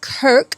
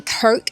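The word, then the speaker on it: Krk: Uh we woke up and today we went for a day out to an island called Kirk. I think that's how you say it. It's spelled K R K and it's about an hour's drive from here.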